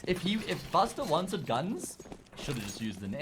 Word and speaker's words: GUN5: heard it's actually pronounced I've heard it's pronounced guns actually apparently I've heard that